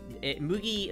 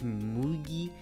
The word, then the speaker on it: Mugi: uh the last one it's Mugi with moogie with the Double O's is how you say it it's moogie but it's spelled m-u-g-i you lost two centimeters